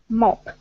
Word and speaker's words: mop: Mop. In this case, O sounds like ah, mop, mop. Mop, mop.